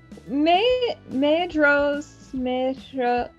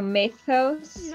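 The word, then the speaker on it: Maedhros: Maedros. Wait, no. There was a note on the pronunciation. DH is TH. So Maethos.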